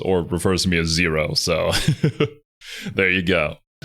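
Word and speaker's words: Xero: Oh, and kind of off topic, but if you're wondering what you're supposed to refer to me as, uh, my name is Zero, spelled with an X because I'm cool and edgy like that.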